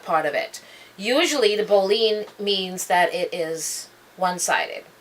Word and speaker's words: boline: Boline, I know a lot of people say a boline, which is spelled B-O-L-I-N-E, or it could also be spelled B-O-L-L-I-N-E, or B-O-W-L-E-E-N, or it's enunciated as B-O-W-L-E-E-N, boline.